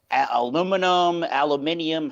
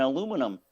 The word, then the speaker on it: aluminium: I heard recently there's an aluminium, however you pronounce it. There's going to be a shortage of aluminium and aluminum for making the cans for the beer.